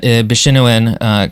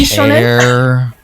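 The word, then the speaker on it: bishōnen: Yes, he is very creepy and weird looking, and he very much falls into that Bishinuen kind of... I feel like it's not pronounced that way. I don't really care. Bishonen?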